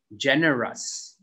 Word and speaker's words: generous: one is not generous g e will make a j sound so this is gen generous this one is pow